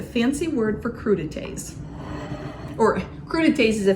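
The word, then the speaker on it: crudités: word for crudites or crud Tas is a fancy word for this appetizer that's the right way to say it Okay so next I'm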